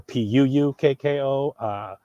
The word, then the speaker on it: puukko: it's spelled, P-U-K-K-O or P-U-U-K-K-O, puukko, right? So the stress on Finnish is always it's stress, unstress, stress, unstress, stress, unstress.